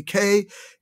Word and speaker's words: Keswick: approach versus the keswick approach and kez actually k-e-s-w-i-c-k is pronounced keswick though it looks like keswick okay keswick is